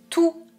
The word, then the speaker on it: tout: Remarquez aussi que dans la règle numéro 1 TOUT et TOUS se prononcent exactement de la même manière tout le programme tous les chats tout/tous je ne prononce pas le T ou le S donc s'il y a